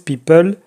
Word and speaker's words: people: Y para terminar, people, así decimos en francés people, o sea, tomamos la palabra del inglés, pero si se fijan, la pronunciamos con el acento francés, people, y viene siendo el tema de los artistas, ¿no?